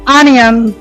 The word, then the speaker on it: onion: এটা সঠিক উচ্চারণ হবে পেমেন্ট। Onion. Onion. এটা হবে অনিয়ন।